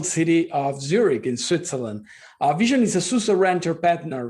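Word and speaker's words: VSHN: uh first of all how do you pronounce name vision like the eye hence the eye in the logo we are located in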